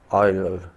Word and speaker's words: Euler: They are known as Euler's, pronounced as Oiler, Euler's equations.